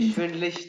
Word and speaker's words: schwindelig: या Mir, mir ist schlecht, schwin, schwindelig, या schwindelig, श्विंडलिक, श्विंडलिक ये श्विंडलिश ठीक है, sorry, श्विंडलिश ठीक है, श्विंडलिश schwindelig, हाँ ठीक है।